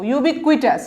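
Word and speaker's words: ubiquitous: ইউবিকুইটাস, ইউ বি ভেঙে ভেঙে উচ্চারণ করবেন, ইউবি কুইটাস, 3টা সিলেবল, ইউবি একটা, কুই আরেকটা, টাস হচ্ছে 3 নম্বর সিলেবল, ভেঙে ভেঙে উচ্চারণ করবেন, ভুল হবে না।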